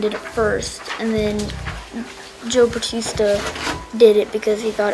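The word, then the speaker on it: José Bautista: guy, I think, I don't know how to pronounce it, Joe Batista, that's how you pronounce it, of Toronto Blue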